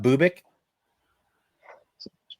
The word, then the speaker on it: Bubic: say his name, but Bubich. Bubic. Dude, love it. That's the greatest. Like like uh like pubic with a with a B.